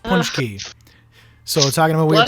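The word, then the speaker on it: pączki: weird look at this p-a-c-z-k-i but that's pronounced punch key so we're talking about weird pronunciations it's pronounced punch key and that's it's it's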